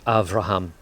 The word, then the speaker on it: Avraham: the in the Hebrew Avraham so the B becomes a V and actually the B